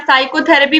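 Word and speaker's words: psychotherapy: साइकोथेरेपी भी अगर पूछेगा तो उसमें भी पी साइलेंट है।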